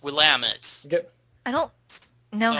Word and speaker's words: Willamette: But no, at the end of the game, you go to Willamette, Willamette County, and it's pronounced Willamette.